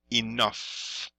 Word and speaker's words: enough: a little pronunciation parenthesis notice this this GF or sorry GH over here just make sure you don't get confused with this this sounds like the F like an F right so we say